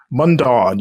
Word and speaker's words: Mundaun: Is that how you pronounced it? Mundaun, you got it.